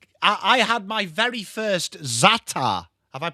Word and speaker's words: za'atar: Talking about pallet, I I I had my very first za'atar. Have I pronounced that right? Za'atar.